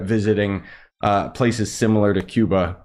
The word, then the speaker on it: Cuba: uh places similar to Cuba or Kuba as it's pronounced there just because like I